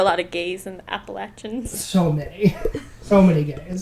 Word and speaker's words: Appalachian: Appalachian State, which is up in the mountains of North Carolina. How do you pronounce that word?